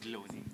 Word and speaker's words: Baloni: Over to the brand Baloni. Am I pronouncing it right? Baloni.